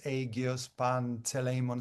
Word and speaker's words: Agios Panteleimon: I think it is called Athens Agios Panteleimon Square. Is that correct, Katerina? Did I got it wrong the way I pronounced it? By the way, the point. Fine, absolutely fine.